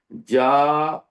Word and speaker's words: ج: یہاں جیم نہیں کہتے، وہ کہتے ہیں جا، شا، یا.